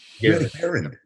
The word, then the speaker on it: Garand: I always say, if you own one, you could pronounce it correctly. Yep. Garand.